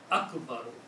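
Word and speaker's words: أكبر: So the sound will be Allahu Akbaru. Okay, Allahu Akbaru. Same thing will happen. Last letter here has a dhamma here on Akbaru. When you stop, you can pronounce Akbar.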